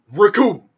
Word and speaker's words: Recoome: So I was like, oh, no, you want a little bald man wants to play with Recoome, the man who rhymes with doom, and you're gonna be hurting fusions.